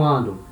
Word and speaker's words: ans: Mas a pronúncia é a mesma. Tá? Então, an, som de N. 2 ans, som de Z.